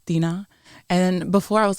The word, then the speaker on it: Dinah: What is the genuine way that it should be pronounced? Dinah.